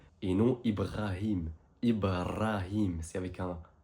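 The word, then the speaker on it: نوح: Et ce prénom, vous avez tendance à le prononcer Noé. Mais en arabe, c'est bien n avec un ha à la fin du mot qui donne simpement prononciation suivante répète après moi no.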